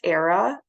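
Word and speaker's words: Airea: I think it's pronounced era Matthews she says in this book that it rhymes with Sarah so I'm just going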